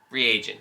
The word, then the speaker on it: reagent: Reagent. Reagent, thank you. You said regent again.